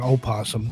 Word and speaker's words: opossum: We knew people in the South that eat possum. And if you've ever seen a possum, they are an opossum, to say it correctly, they look like a giant rat.